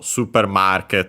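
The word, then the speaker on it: スーパーマーケット: As for the accents, on its own, super, yeah, accented just like in English on the su, so high, everything else low. For supermarket, market on its own would be accented on the ma, again, just like in English. And when combined, the accent that stays is the one for market.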